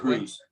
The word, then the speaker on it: Kroese: be here hey Clint am I am I pronouncing your last name the right Cruz Cruz okay yeah yeah I was like oh